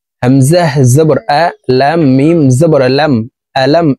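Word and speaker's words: أَلَمْ: জবর লাম মিম জবর আলাম এখানে আলিফ আছে আলিফকে হামজা বলে উচ্চারণ করতে হবে কারণ হরকত থাকলে এই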